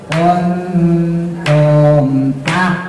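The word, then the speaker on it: كُنْتُمْ: Tumnya mim mati ketemu tak. Tum tak. Nah mim mati ketemu tak, itu izhar. Jangan dilaguin, jangan dipanjangin. Jadi bacanya gimana? Wa ma kun. Nah ini tahan bener nih. Kuntum tak. Nah langsung kuntum tak tumun. Jadi izhar syafawi itu setelah mimnya sempurna, tum langsung masuk ke huruf selanjutnya.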